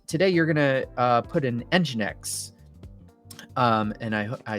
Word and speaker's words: Nginx: So we've got a Postgres database, and today you're gonna put an Nginx. And I said that right finally. I've been told my pronunciation of certain technologies is not great, so